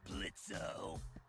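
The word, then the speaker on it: Blitzø: in it uhhuh sure blitzo the O is silent now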